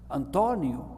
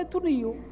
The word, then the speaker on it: António: em português, por exemplo, que têm o acento na terceira sílaba, porque é a partir do fim, António, tem o acento sobre o O. Tirando o acento é Antonio. O António deixou de ser António, passou a ser Antonio, mas é muito bonito, muito poético.